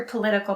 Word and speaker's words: political: on the first syllable and political has the stress on the second syllable the next three words